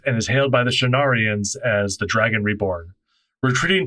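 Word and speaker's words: Shienarans: Rand emerges from the tent and is hailed by the Shenarians. That's how you pronounce that word. Rand emerges from the tent and is hailed by the Shenarians as the Dragon Reborn.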